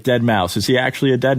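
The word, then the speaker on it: Deadmau5: Like Dead Mouse. Is he actually a dead mouse? No, he's a person who wears a thing on his head. It's not Mouse though. But that's how it's pronounced.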